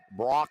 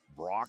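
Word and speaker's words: Brawk: It's pronounced Brock, I'm assuming, as it is spelled B-R-A-W-K.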